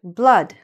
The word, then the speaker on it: blood: This word, blood, right? The blood in your veins, in your body, blood. I know there are two O's there, but it's still pronounced something like this.